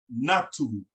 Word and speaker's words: natu: And that word is pronounced natu, na-tu.